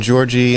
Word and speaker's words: Georgi: How old is, how do you say his first name, Georgie? Yeah, we've been saying Georgi. He says Georgi. Oh, Georgi. Okay. So I think he's okay with either.